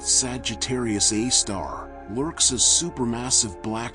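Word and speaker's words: Sagittarius A*: There in a region called Sagittarius A asterisk, pronounced Sagittarius A star lurks a super massive black hole weighing as much as 4 million of our suns.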